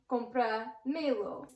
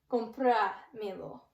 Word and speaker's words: comprámelo: So we look at our syllables, and we count the last 3 syllables from the end. So we go 1, 2, 3, accent on me. Comprámelo.